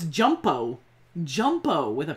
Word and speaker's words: Jumpo: No, it's not Jumbo Corlew. Jumpo. Yeah. J-U-M-P-O. It's Jumpo.